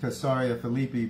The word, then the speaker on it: Caesarea Philippi: actually pronounced mount hormone and caesarea philippi is pronounced kasaria felipe but i'll keep saying the old pronunciation because